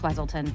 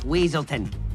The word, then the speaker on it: Weaselton: What were you going to do with those night howlers, Wesselton? It's Weaselton.